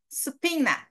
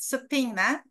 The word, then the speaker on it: subpoena: Subpoena. Even Americans, when they look at this word, they have a tough time pronouncing it. Subpoena, no B sound.